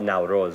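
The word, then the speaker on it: Наурыз: really a spring festival we say we call it naurus we we pronounce it differently but it's the same thing you know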